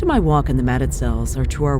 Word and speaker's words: Mazatzals: Highway up into the Mazatzals. The original pronunciation is how it's spelled, Mazatzals, but the locals tell me it sounds more like Mazatzal.